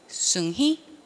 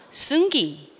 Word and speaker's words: 승희: I'm 하고 난 다음에 제 이름을 다시 확인하는 경우가 많아요 왜 발음하기 어려우니까 승희 승희 승희 승히 그러면 아 승기 짜증나지만 그냥 승기로 그냥 살아요 중요하지 않으니까 왜냐면 걔랑